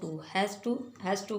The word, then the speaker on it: hasta: Next है हमारा HAS, हैज़, TO, हैज़ टू को हम लिखते हैं HASTA। ठीक, और इसे प्रोनाउंस किस तरह करेंगे?